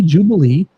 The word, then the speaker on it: Jewbilee: one of the Whisy's most beloved events, Whiskey Jubilee. Yes, it is spelled J E W B I L E right here in Chicago this October.